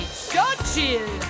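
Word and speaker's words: Xochitl: How do you say it? Oh, it's C-C-U-C. Let me hear you say so chill.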